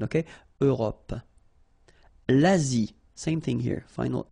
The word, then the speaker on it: Europe: L'Europe. Remember this final it's not really present. It only gives you the possibility to pronounce this P at the end, okay? Europe.